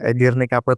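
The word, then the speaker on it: Edirnekapı: Edirne Kape tulisannya Edirne Kapi. Tapi Kapi itu eh Turki bacanya kape. Eh Edirne kape.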